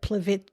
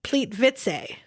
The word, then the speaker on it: Plitvice: Plitvice Plitvice Plitvice because but it's not it's Plitvice. Plitvice. It's p l i t v i c e. So as an American we would have said Plitvice. Right. But that's not what it is.